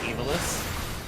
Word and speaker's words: Ivalice: let's go let's go it's pronounced evilest okay because they're Divo